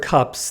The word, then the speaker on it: cups: For example, in the English word cups, the S is pronounced as a normal unvoiced S because the preceding consonant, P, is an unvoiced consonant.